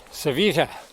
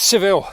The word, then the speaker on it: Sevilla: God, I've got to get that double L pronunciation right. Sevilla. And that's Seville to you and me.